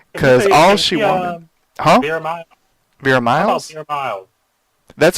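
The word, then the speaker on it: Vera Miles: in this movie because all she want huh ver miles that's how you call really I've always called her ver Mills it's m i l okay well it might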